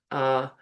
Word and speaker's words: thaumaturgy: And so the word of the week, I'm going to try and pronounce this correctly, is thaumaturgy.